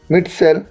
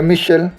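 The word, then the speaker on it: Mitchell: improves with experience E टॉम मिट सेल या मिशल इसे अपने अकॉर्डिंग आप इसे बोल सकते हैं बट इसे मिशल के नाम से आप इसे प्रोनाउंस भी कर सकते हैं तो वडिंग जो बेसिकली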